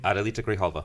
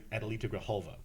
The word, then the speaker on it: Adelita Grijalva: Adelita Grijalva. Thank you, because I can't pronounce her name. Adelita Grijalva.